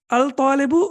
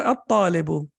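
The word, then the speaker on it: الطالب: It's difficult to pronounce it even. So, al-babu, yes. Al-talibu or at-talibu?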